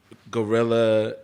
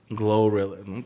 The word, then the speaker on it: GloRilla: Okay, so what I want to do is just blame Gorilla, Cardi B. Don't do that. Gorilla. Don't do that. Gorilla. How do you say it? Glorilla? Glorilla.